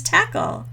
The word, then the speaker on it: Techel: the funny thing is my last name is tackle though I spell it te CH e L so everywhere we visit